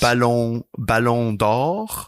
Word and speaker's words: Ballon d'Or: would be voted as the winner of the Ballon d'Or. The Ballon d'Or, the trophy awarded to the world's best players. Ballon d'Or.